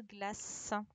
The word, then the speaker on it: glace: Et c'était le C qui faisait le son S. Une glace.